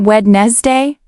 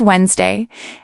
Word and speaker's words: Wednesday: For example, Wednesday is not pronounced like it looks. It's not wedd day. It's Wednesday and Thursday often blends into Thursday.